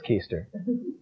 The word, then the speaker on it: Keister: Your name looks like it should be pronounced Keister. Well, it is Keister. Life's a bitch, isn't it?